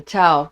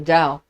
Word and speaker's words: Tao: then you hear about the Tao, or the Tao, T-A-O or D-A-O, however you want to pronounce it, in the Chinese Taoism.